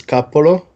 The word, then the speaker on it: Coppola: hello everyone I'm my name correctly pronounced is Coppola I for anyone not